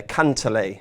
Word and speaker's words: Cantlay: I like, Steve, I very much like the Paul McGinley pronunciation there, Cantlay.